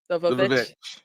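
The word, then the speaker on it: The VVitch: We did our longest after party ever for the witch, but can you please pronounce it correctly for us? The Vavitch.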